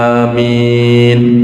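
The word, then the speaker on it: آمين: Ya beliau menyampaikan bahwa pembacaan Amin yang paling Masyur adalah bilmad f dengan mad dan takfif madnya itu Hamzah Amin tidak ada tasdid pada mimnya nah itu yang biasa kita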